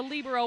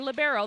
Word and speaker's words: libero: another rule change was the Lio or libero they're both correct pronunciations um and that is